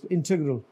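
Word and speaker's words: integral: आगे क्या है जी ये इंटीग्रल नॉट इंटीग्रल इंटीग्रल यानी ई जो है व आई की तरह बोलेंगे इंटीग्रल एंड व्ट इसस नेक्स्ट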